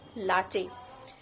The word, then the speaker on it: latte: It's pronounced as latte.